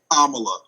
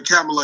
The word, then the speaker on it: Kamala: I think the pronunciation of her name is actually Kamala. They told me it's like the comma and then the la, because I kept wanting to call her Kamala and Kamala, but I've been corrected now, and I think it's actually Kamala.